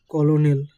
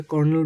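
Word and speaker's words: colonel: এখানে কলোনেল বা কলনেল তো বলা হয় না। এটা কর্নেল বলা হয়।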